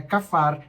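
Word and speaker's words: כפר: Kafar, se escreve kapar com esse P, mas quando tem aí essa bolinha acima do P, tem um som meio que de F, é como se fosse um F, um PH, né?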